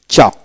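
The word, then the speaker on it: chalk: তারপর আসে চক, সি এইচ এ কে, চক এল এর উচ্চারণ হবে না, চক।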